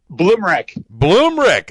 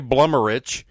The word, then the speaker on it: Bloomrick: Bloomrick. All right, so it's better than I was going to say Blummerich. That's close. That's what everybody says. That's the Eastern Kentucky pronunciation.